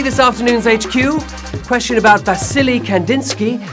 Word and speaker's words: Vasily: Question about Vasily Kandinsky, whom I heard myself mispronouncing as Valasy and then still made a joke about his name having silly in it.